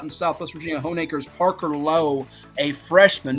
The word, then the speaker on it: Lowe: One is out in Southwest Virginia, Honeacre's Parker Lowe, a freshman. No relation to Brandon Lau, by the way. Spelled the same way, but pronounced differently.